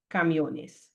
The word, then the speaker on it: camiones: When you add the ES and now the word ends in an S, the stress automatically falls on the second to last accent. Sorry, second to last syllable, camiones. So you don't need to put an accent there. People will already say camiones.